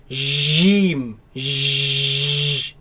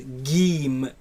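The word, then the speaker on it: جيم: It is a solid letter. The makhraj of it completely closes. So j, j, jeem. Jeem. And it is incorrect to pronounce it as geem with a g sound.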